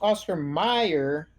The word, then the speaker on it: Oscar Mayer: didn't But it's pronounced Oscar Mayer.